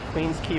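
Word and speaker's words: Queens Quay: a y qu but it's pronounced key Queens Key West running we're running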